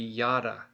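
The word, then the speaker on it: ידע: But the thing is they're going to almost sound the same when you pronounce this word. It's still going to be yada.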